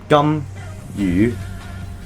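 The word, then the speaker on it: 甘雨: you gum you so the first Chinese character gum is basically the same as chewing gum the gum in chewing gum so just say that it's pretty easy so the second Chinese character you um it's kind of similar to the letter U but don't go like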